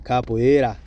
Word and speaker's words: capoeira: You got to say it like you're from there. Capoeira.